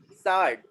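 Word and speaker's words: façade: facade, Facade. It is not facade, it is what? Facade. This C is containing cedilla, and that cedilla is acting like sir, and it is what?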